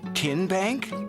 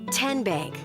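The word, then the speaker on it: TN Bank: How do you say the name Kien Bank? Nope. Kin Bank. Uh-uh. So, what is it? 10 Bank. 10 as in Tennessee.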